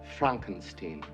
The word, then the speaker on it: Frankenstein: And remember, it's pronounced Frankenstein.